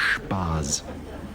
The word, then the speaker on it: Spaz: Old German Jewish name. Yeah. Should really be pronounced Spaz.